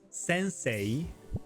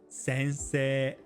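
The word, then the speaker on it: 先生: pronounced yoji but yoji And the word for teacher in Japanese isn't pronounced sensei but sensei I honestly learned this embarrassingly late into my studies.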